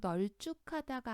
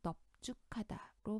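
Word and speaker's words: 넓죽하다: 밥도 마찬가지로 밥다, 밥소, 밥지, 밥는, 밥게, 밥고 여기서는 발다가 아니라 밥다로 넙죽하다도 널죽하다가 아니라 넙죽하다로 발음을 하죠.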